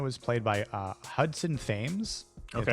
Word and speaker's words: Thames: played by uh hudson thames okay that's how you pronounce his last name tames maybe but i thought he